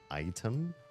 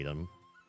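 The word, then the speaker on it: Aitum: It's called um Item, but it's spelled Ai Tu M. I think some people have tried to call it Adam, but I think that AI is pronounced I.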